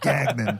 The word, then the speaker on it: Gagnon: something like A lot of that. people do Gagnon, Yeah. which is, I think that's the French way to pronounce it. That's Gagnon. that sounds like that's New Orleans French, right? Yeah. That's the French Quarter, not Yes.